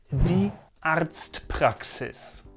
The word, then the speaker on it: Arztpraxis: Germany, this is called die Arztpraxis. Die Arztpraxis. See how I emphasized the R in the first pronunciation more? That's not necessary, it's just a little variation.